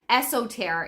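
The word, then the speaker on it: Eostre: Esoter is, I think, how to pronounce it.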